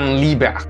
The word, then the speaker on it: Liebert: é Johan liebert Way your Líbero seria a pronúncia em alemão né e honram Liber alguma